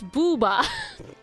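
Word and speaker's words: ブーバー: This is literally how you pronounce it. It's the silliest Japanese Pokemon name. Or if it's not the worst one, it has to be up there. Booba, yeah, Booba. That's his name. Booba. Booba. Magby is Booby.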